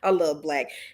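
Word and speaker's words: 6LACK: It was spelled 6 LACK, but it's pronounced Black. Him, I love Black.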